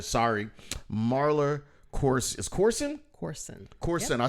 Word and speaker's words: Corson: Corson. Yep. I said it the right way. See, I'm so busy hosting shows and mispronouncing people's names that I don't know if